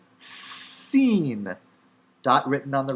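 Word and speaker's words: שׂ: of weight shekel shekel dot written on the left seen dot written on the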